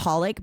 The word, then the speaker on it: xxxHOLiC: That reminds me of an anime that I really like called X it's called Holic but it's spelled XXXholic.